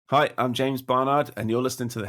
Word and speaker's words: Barnard: Everyone says Barnard. Yeah. It's Barnard.